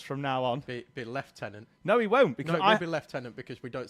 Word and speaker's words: lieutenant: lieutenant but it's a left tenant. He can say Lou. It's it's a left mate. He can be a he can be a right tenant for me.